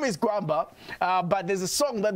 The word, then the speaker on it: Gwamba: His name is it Gwamba? Gwamba, yes. I got to pronounce it right.